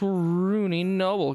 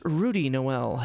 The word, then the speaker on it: Rudy Noel: got to be this rooney noble character the mouse told me about keep an eye out for it's actually pronounced rudy noel if you don't mind you know like a lazy christmas reference yeah whatever save for